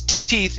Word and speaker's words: teeth: discolored teeth okay so when you pronounce teeth it's instead of th teeth discolored teeth teeth okay very nice